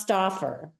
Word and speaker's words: Stouffer: yes but it's pronounced staer yes yeah it's like the frozen lasagna only uh only a little different yeah very different very